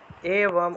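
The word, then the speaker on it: এবম্: তারপরে 82 থেকে 84 থেকে এবম, এওয়াম উচ্চারণ হবে, এওয়াম, বয়ের উচ্চারণটা ও এর মতো করে ফেলবেন।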